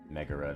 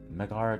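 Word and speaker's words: Megara: right for some reason i can't get uh mega ro to stick in my mind as being the correct way to pronounce it it's just magara just sounds right to me i don't know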